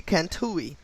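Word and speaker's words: Kantaoui: port el cantus and i'm gonna pronounce uh spell that word port e l then k a n t a o u i so port el canta ue cantui okay and that um word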